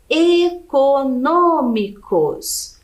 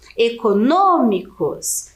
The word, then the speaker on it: econômicos: pra gente observar né econômicos então a última sílaba cos penúltima sílaba mi e antepenúltima é um no Ok econômicos então é a antepenúltima sílaba aqui é a mais forte e ela é acentuada